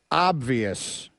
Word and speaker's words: obvious: not figurative it is obvious the word is obvious obvious and I'm adding the the b in my pronunciation of it just so everyone is clear